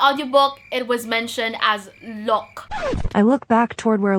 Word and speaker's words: Locke: By editing this video, this is the time to tell you that I messed up, because the actual pronunciation is Locke and not Loki, which is, I'm so sorry.